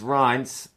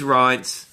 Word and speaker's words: Reince: This guy is in charge of the Republican Party, and I believe it's pronounced Reince Priebus. Rhymes with Heinz.